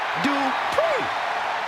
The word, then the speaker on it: Dupri: Uh, Michael, it's pronounced Dri. The following contest is scheduled for one fall. Making her way to the ring from Phoenix, Arizona, Maxi Dri.